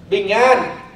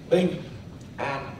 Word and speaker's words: Bình an: Bình an. Cái từ này phải đọc cho đúng vào. Nghe kỹ này, phát âm nó phải đúng vào. Bình an. Chứ bình nó quan trọng.